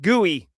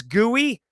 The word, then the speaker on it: GUI: It's pronounced GUI.